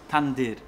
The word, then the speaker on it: tandyr: Pan mi tutaj próbował powiedzieć, jak to się mówi, wymawia tandyr.